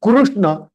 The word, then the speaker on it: कृष्ण: लेकिन when we से कृष्ण, it should be कृष्ण, कृष्ण, कुरु, कृष्ण, नॉट कृष्णा। क्री बना देते हैं इंस्टेड ऑफ रू।